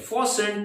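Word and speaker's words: fasten: था फॉसें अब देखें ये फॉस्ट नहीं है फसन टी साइलेंट है तो फसन अ फस्ट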